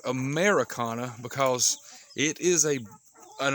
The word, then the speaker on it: Ameraucana: you on the screen americana has no eye in it if you see anybody selling chickens or advertising americana chickens and it's spelt like america with an eye it's spelled wrong there is no such breed as americana it's spelled you know like i showed you a-m-e-r-a-u-c-a-n-a so kind of be aware